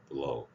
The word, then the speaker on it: blow: blow. 영어에 L 발음 들어가 있으면 니을 두 번.